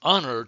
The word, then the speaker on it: honor: It was an honor to meet you. The H is silent.